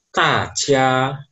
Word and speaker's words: 大家: Selanjutnya, aksara ini Di bahasa Mandarin dibaca tajia, tajia.